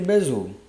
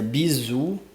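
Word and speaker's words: Bézout: demonstração do Teorema de bezo Então vamos lá da demonstração do Teorema de bez que na verdade eu acho que se pronuncia bizu mas enfim eu vou ficar falando bez certo sabemos que o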